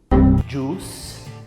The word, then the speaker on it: juice: aqui, suco, né, juice, tem o bônus também, que você também não pronuncia o I. Você deve estar pensando, Nossa, então pra que essas letras aí? Não pronuncio nada do que tá escrito. mas o inglês é assim, ele é meio louco. Tem isso também, né? Quando é essa junção do U e do I, você acaba não pronunciando aquele I e só o U. Juice, com esse U mais longo, assim.